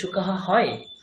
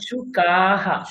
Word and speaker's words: शुकाः: বহুবচনে কি শুকঃ হয়? কি হয়? शुकः শুকাহ, शुकः शुकाः। শুকাহ। উচ্চারণ ঠিক না করলে কিন্তু আমাদের সব জলাঞ্জলি হয়ে যাবে, সব ভুল হয়ে যাবে।